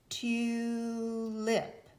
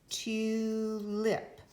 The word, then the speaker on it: tulip: Tulip. Since the consonant went to the second syllable, it did not stay with the vowel, we know that the U will say its name.